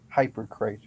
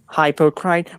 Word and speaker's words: hypocrite: a hypocrite a hypocrite what a strange word hyper great i mean that's what it looks like but it's pronounced differently hypocrite whilst i thought you